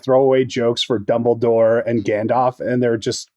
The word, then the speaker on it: Dumbledore: like throwaway jokes for Dumbledore and Gandalf, and they're just great throwaway jokes. They are. Yeah. I love the the Vuvius the wizard can't pronounce Dumbledore. He keeps saying Dumbledore, right? Double door.